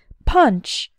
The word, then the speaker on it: punch: work on the pronunciation the letter U has the UH sound like in the words cut lucky and fun the n CH sounds like at the end of the words lunch bunch and crunch say the word after